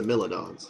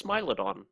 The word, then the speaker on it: Smilodon: there's a theme building here oh it's the milons it's right up San actually it's Smilodon youone pronounce it because they're just that happy with